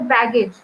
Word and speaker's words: baggage: So the first half, there are two syllables here in this word, that is bag and age. So baggage. So bag is uttered loudly, that is the stress is on the first syllable.